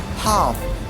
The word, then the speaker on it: half: We say cough, half, palm, would, should, could, fork, and york.